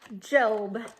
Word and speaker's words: Job: his name is job spelled like job but for some reason most people say job so let's call him job hi job here we